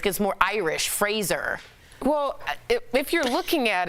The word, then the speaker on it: Fraser: So it's Brendan Fraser. Yeah. Like Razor. Right, and then I watched the Adam Sandler interview. He kept calling him Fraser.